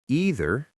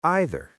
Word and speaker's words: either: You can say either or either. Both pronunciations are correct in American and British English.